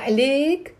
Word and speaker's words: عليك: So smalla alayke, if it's a man, smalla alayk, alayk, one syllable, alayk, alayk.